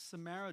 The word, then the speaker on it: Samara: Let the record state that I've been mispronouncing her name. That's okay. Someone Everybody recently does it. corrected me. It's Samara Joy.